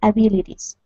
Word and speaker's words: abilities: Okay, let's use the short I.